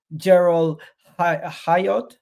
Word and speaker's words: Jorrel Hato: are heavily linked to an Ajax youngster yes Gerald hayot that's how you pronounce his name Arsenal are plotting a move